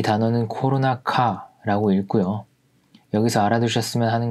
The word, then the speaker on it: コロナ禍: 이 단어는 코로나카라고 읽고요.